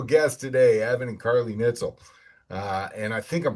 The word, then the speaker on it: Nietzel: Evan and Carly Nitell. Uh, and I think I'm pronouncing that correct. Nitell.